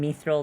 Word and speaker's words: Mythril: saying are you Jade are you saying methil that way to make me mad no I'm saying Mythril because that's how I've pronounced it for the past X years where is greater than